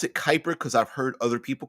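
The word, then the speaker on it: Kuiper: someone's last name but it looks like it would be pronounced cuiper but I pronounce it Kyper uh because I've heard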